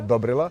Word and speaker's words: Dobrila: Dakle, poljoprivreda nije samo muški posao, dokaz su sestre Dragana i Dobrila, jesam dobro akcentovala, Dobrila, tako se kaže u Staparu.